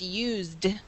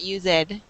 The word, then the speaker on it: used: So we do not pronounce ed when we add a D. When we add a D, it's used, not used.